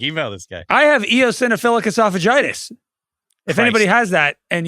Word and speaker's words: eosinophilic esophagitis: ad yeah Craig email this guy I have eosinophilic esophagitis if anybody has that and you have remedies email me how do you say it again e eosinophilic esophagitis which sounds a lot worse than it is